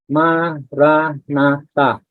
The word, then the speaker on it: Maranatha: The recommended word is Maranatha, meaning come Lord in Aramaic. And this word is found in the Bible. It's 4 syllables.